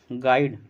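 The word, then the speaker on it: guide: च लेटर इ silent गाइड गाइड शब्द में कौन सा अक्षर साइलेंट है साइलेंट का मतलब होता है मौन जिसका उच्चारण नहीं किया जाता है तो जी यू आई डी ई गाइड गाइड में यू जो होता है साइलेंट होगा ऑप्शन एक करेक्ट होगा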